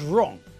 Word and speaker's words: wrong: first letter that's right although we can't hear it the first letter in the word wrong is a w it's a silent letter and who knows what